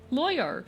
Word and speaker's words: lawyer: You cannot tell me a lawyer. is one fucking syllable. You can't do that to me. It's 2 syllables.